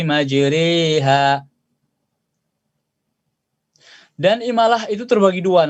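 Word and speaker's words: مجراها: Nah, karena majriha re itu bacanya tipis, bukan majri, bukan majriha, tapi majriha.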